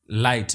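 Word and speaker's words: light: लाइट में जी silent है।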